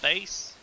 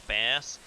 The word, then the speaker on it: bass: correcting my pronunciation because i know that it's bass but for some reason when my mouth tries to spit it out it comes out as base i say small mouth